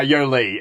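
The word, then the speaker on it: Yolei: wow it said yoli she pronounced her name to rhyme with go see okay yeah weird and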